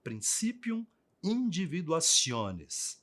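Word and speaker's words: principium individuationis: chamado em latim de princípium individuacion escreve-se assim mas pronuncia dessa forma princípium individuacion que quer dizer princípio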